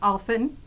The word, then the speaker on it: Allphin: And Allphin, rhymes with dolphin.